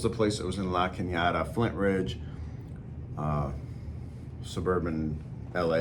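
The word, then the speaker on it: La Cañada: it until they till the little squiggly line above the end which means this neighborhood's so fancy it says Canada and they pronounce it La Canada so I don't know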